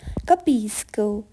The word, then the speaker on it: capisco: this and use it in your everyday routine capisco I understand capisco I understand when someone is